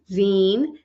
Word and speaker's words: zine: so what are Zen pronounce Zen and rhymes with lean and mean a derivative of magazine or fanzine scenes are generally defined